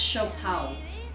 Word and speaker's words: siopao: Pronounced shopao.